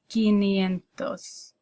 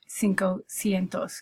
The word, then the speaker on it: quinientos: It's quinientos instead of cinco cientos, because that's too difficult to say.